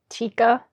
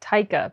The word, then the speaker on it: Taika: I did not know that Tika, I think that's how you say his name, because I used to pronounce it Taika, but I think it's Tika.